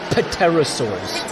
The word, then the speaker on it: pterosaurs: Pronounce it correctly though. Pterosaurs.